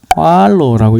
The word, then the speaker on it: Qalo: 그래서 QALO, 그냥 우리가 읽으면 그냥 꽈로인데 제가 섬기는 종족 코사 종족은 꽈로라고 읽어야 돼요.